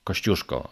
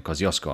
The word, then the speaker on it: Kościuszko: najwyższą górę w australii moment kościuszko australijczycy to inaczej wymawiają kostką ale nie o to